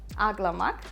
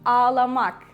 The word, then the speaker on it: ağlamak: And you need to pronounce a like softer, longer, or like a double sound, we can say.